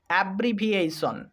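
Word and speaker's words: abbreviation: যেখানেই টি আই ও এন কে দেখতে পাবে সেখানেই সন উচ্চারণ হবে। তাহলে হবে অ্যা ব্রি ভি এই সন, অ্যাব্রিভিয়েশন, মানে সংক্ষিপ্তকরণ।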